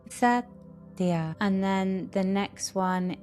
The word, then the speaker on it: Satya: The second, Yamas, is Satya.